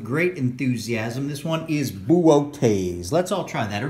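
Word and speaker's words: Boötes: enthusiasm this one is boooo taze let's all try that or make bouquets so it looks like booties but this is pronounced boo like a ghost and then okay's in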